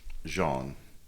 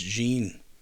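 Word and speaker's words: Jeanne: out of the the tree line to get jean it's jeene I know how it spelled I looked up the pronunciation is it it's Jean it's z h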